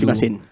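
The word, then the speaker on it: すみません: Sumimasen. Sorry, the right pronunciation is sumimasen.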